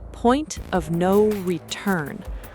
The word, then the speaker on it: point of no return: Pronunciation, point of no return. The last word carries the stress.